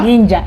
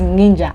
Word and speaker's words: Nginja: Ninja. Actually, it's Nginja.